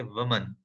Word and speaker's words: woman: आप यहाँ पे वुमन, अब अगर सिंगुलर वुमन है जिसमें उसकी स्पेलिंग WOMAN आ जाती है, तो उसको हम प्रोनाउंस करेंगे वुमन, वुमन। ठीक है। अगर प्लूरल हो जाती है, सिर्फ एंडिंग में लास्ट में ई आ जाती है, WOMEN, जो कि प्लूरल हो जाता है बहुत सारी औरतें, तो उसे हम पढ़ते हैं विमेन। वुमन for singular, विमेन for plural.